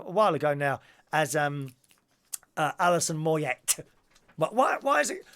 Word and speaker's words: Moyet: ago now as Alison Moyet but why is it why she spell it mo ye t when you don't say the T so I will say